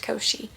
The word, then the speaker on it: Koschei: I'm pretty pretty sure it's pronounced Koschei.